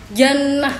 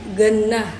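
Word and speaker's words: جنة: Seperti jannah itu, orang sana kan jim itu jadi ga, jannah jadi gannah, atau wajah waga.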